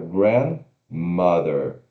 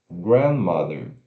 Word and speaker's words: grandmother: Então a sílaba tônica é grandmother, grandmother. Grandmother.